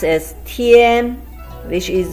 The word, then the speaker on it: 天: The left hand side one pronounced as tian, which is a combination of te and yan with the first tone. Te yan tian.